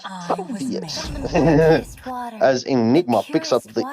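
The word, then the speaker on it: Phoveus: Yes, that is the Fovius with an F, but it's actually a P. But let's not go into this argument again. It's pronounced Fovius.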